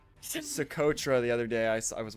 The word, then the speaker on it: Socotra: Yeah, I think you tried to pronounce Socotra the other day. I was watching your 1v1. It's not Socotra. Socotra.